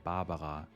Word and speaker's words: Barbara: in many European countries if you wanted to pronounce it German you could say babaja and her surname is Peg so it would be Barbara Peg one of my